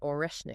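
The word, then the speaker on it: Орешник: announcement about this new missile it's called the oresnik did I pronounce that right yeah you got oresnik oresnik which means Hazel tree it was apparently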